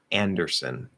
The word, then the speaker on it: Anderson: No, so it should be Ann. Like you're saying and, der, not dar or something like that. Der. Make sure it's just der.